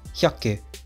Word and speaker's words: 百: Today's kanji is 100, pronounced hyaku.